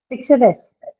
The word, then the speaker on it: picturesque: Picturesque. Picturesque. Picturesque. What does it mean? Picturesque means something which has a pictorial quality, right? very attractive. Picturesque. So again, this is again on the suffix itself.